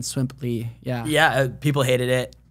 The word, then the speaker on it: Swimply: I mean, originally I think I was about ready to say Swimly, but then Swimply.